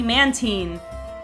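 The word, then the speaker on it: Mantine: was finding out that man tyne is actually man teen and again makes perfect sense man teen marine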